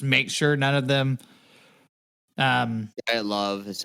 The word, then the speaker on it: Dyatlov: Dyatlov is how you say it.